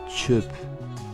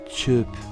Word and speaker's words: çöp: Le O avec tréma, donc avec les 2 points, se prononce E, comme par exemple dans le mot çöp, çöp, la poubelle.